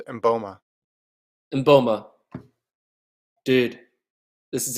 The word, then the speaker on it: Mboma: happened today dude christine mumba i said her name wrong christine boma boma how do i say last name yeah i think it's mboma and bulma dude this